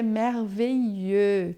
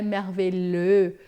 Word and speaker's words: merveilleux: Lembrando que é merveilleux, tá? Esse som de L aqui, ó, é um i prolongado. É maravilhoso, não é merveilleux, não é mervux, né?